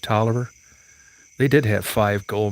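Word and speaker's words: Taliaferro: if you look at talifaro county which is pronounced toler they did have five gold mines here but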